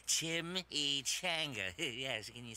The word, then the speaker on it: chimichanga: Well, it's pronounced Chimichanga.